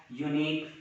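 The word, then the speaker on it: unique: तो आप शुरू में प्रारंभ में देखिए यो जो है आपका वॉवेल साउंड न बन करके, यहाँ यू का उच्चारण वॉवेल साउंड न बन करके कॉन्सोनेंट साउंड बनता है, इसलिए इसमें ए यूनिक आइडिया लगा।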